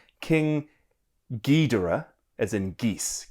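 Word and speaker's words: King Ghidorah: He said this as well that it's pronounced King Gedora as in geese. G as in geese.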